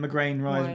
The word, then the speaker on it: McGrain: And then McGrain rhymes with train.